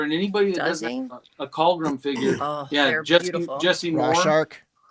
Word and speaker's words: Calgrim: Calgrim. I say it wrong all the time. I call it Calgrim.